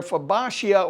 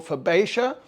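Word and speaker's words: Fabaceae: of plants called verbatia I think I'm pronouncing that correctly I think it's a French word but they're fabashia or fabasia they're a group of plants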